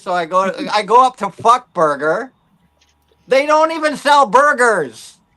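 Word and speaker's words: Fuk Burger: It's called Fuck Burger. But it's not spelled like fuck, right?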